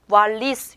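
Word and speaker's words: valiz: 자, 왜 그러냐 하면 요 왜 뒤에 아라는 모음이 위치했기 때문에 이 다음에 아라는 모음이 위치했기 때문에 왈리스 이렇게 소리가 나는 겁니다.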